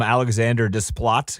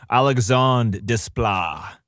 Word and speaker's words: Alexandre Desplat: I call him Alexander Desplat because that's how you would read it, but it's I was looking it up and it's Alexandre Desplat.